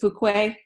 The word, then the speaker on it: Fuqua: gambling with Robbie fook I always say your name wrong Robbie is it Fuquay yeah yeah you walk a few Quay believe